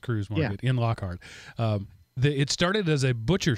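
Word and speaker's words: Kreuz: got a Cruz market it's spelled Crites what is pronounced Cruz it started as a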